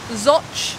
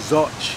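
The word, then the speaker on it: Zouch: just two miles to zoch zotch it's spelled z-o-u-c-h how it gets its name it doesn't sound very english but we made more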